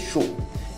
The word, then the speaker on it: chou: Repolho, chou, repolho, chou, é como se fosse X com U acentuado em português, chou.